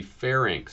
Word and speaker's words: pharynx: N doesn't come before the R, so it has to be pharynx.